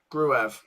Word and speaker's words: Gruev: leads United with possession on the halfway line gruev is uh correct pronunciation says Stephen there you go I think